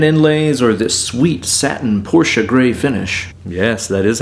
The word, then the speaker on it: Porsche: Maybe it's those sexy shark fin inlays or this sweet satin Porsche gray finish. Yes, that is how it's pronounced.